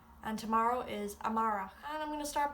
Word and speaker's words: amárach: Today is inu and tomorrow is amara.